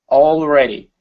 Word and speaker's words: already: is the word already make sure to pronounce the L instead of already it's all all already okay good he was